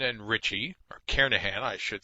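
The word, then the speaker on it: Kernighan: will be using the kernigan and Richie or karahan I should say the g is silent carahan and Richie C programming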